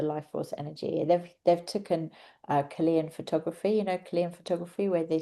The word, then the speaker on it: Kirlian: They've taken Chilean photography, Chilean photography where they see the aura. It's spelled KIRLIAN, Chilean photography.